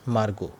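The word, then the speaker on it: Margot: my sister मेरी बहन मार्ग मेरी बहन मार्ग ठीक है ये ऐसे मार्गोट टी है टी यहां पर हम साइलेंट रखेंगे क्योंकि मार्गो ही नाम होता है ठीक मेरी बहन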